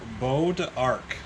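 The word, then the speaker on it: bois d'arc: the head of the hammer is made of bow to arc i actually had to look up the pronunciation of that because i would have never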